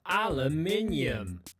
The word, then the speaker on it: aluminium: Par exemple, ce métal, en Angleterre, aluminium. Et en Amérique, aluminum.